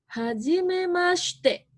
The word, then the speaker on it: hajimemashite: Nah, di sini contohnya hajimemashite ya. Si-nya jangan terlalu jelas.